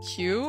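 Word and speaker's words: queue: how you spell it why why is it like qo then doesn't this sound out Q This is Q with four silent letters but like why why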